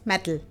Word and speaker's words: mettle: We spell it as METTLE and pronounce it as metal.